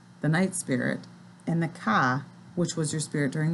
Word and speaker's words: ka: little more about the ka and the ba, which is spelled just like it sounds, the K-A and the B-A, the ka and the ba.